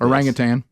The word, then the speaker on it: orangutan: chucklers is it orangutan how do you pronounce orangutan it is tan that's official the whole time I've wanted to say Tang for 57 years yeah I have two